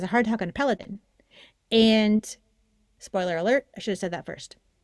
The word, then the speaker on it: Peloton: Peloton.